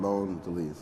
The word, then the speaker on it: Mondelez: and bond and bow from Mondelez my pronouncing that right it's delicious world loan to lease right there we go